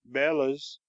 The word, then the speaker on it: bellows: know a man who always calls them Bellas which is I believe the professional pronunciation he also talks about